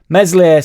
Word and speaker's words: Meslier: stop doing that now mesle silent s here we go I